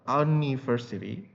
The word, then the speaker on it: university: University anniversary we say it university oke university sorry university oke so we pronounce it you with the sound of y so a university and